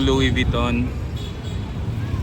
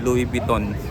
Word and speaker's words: Louis Vuitton: kung Paano bigkasin yan sabi nila sa Frances daw ang tamang pagbigkas niyan Ay Louis V Louis Vuitton o Pwede rin kung hindi kasanay Louis vitton pero normally Louis bit